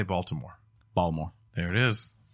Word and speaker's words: Baltimore: How do you say Baltimore? Baltimore. There it is. Balmore?